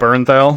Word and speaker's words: Bernthal: Bertinelli, I don't know how to pronounce his name, but that John guy. Bernthal.